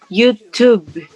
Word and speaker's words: YouTube: There is a B-E, but the E is silent. The YouTube. Tube. Tube. Like like Tuesday.